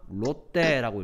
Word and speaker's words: 롯데: 롯. 롯 이러는데 우리는 이거 뭐라고 읽냐? 롯데라고 읽죠.